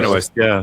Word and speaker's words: Benoist: You guys know how you pronounce it. Melissa Benoist.